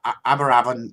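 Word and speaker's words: Aberavon: is going to be down in am I pronouncing that right Phil yeah aberravan Beach uh it's on the Promenade it's going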